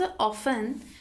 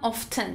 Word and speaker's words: often: البته در مورد تلفظ often، هم often میگن، هم often میگن. اما بیشتر به صورت T silent، یعنی often تلفظ میشه.